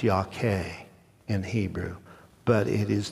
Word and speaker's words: Yahweh: It's pronounced Yahweh in Hebrew, but it is the most holy name that God, the Jews won't even use it, even to this day.